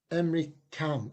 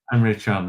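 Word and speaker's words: Emre Can: I can never pronounce his name. I think it's Emry Cam. Is it Emry Cam or Henry K who played for Liverpool in Chan? Emry Chan.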